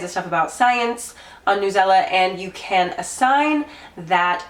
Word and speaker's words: Newsela: And they did say it's Newsela, like umbrella.